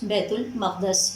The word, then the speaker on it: بیت المقدس: چلا آیا۔ بیت المقدس، جی اسٹوڈنٹس آپ لوگ ہو سکتا ہے کہ اس کو بیت المقدس پڑھتے یا سمجھتے ہوں، لیکن اس کا صحیح تلفظ بیت المقدس ہے۔ بیت المقدس سے ہوتا